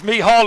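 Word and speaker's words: Mícheál: Well, I was just going to call him Mickey Glynn, but it's Mihal, of course.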